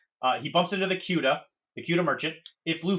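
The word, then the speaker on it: Quedagh: Uh, I believe it's called the Cuda. I'm here. I'm here. I'm here. Sorry, it's is it pronounced the quuda? Quiquida quida.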